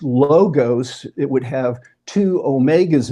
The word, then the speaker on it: logos: sometimes people pronounce it logos. And what they might not be aware of is that in the Greek language, there actually were two different letters for our O sound.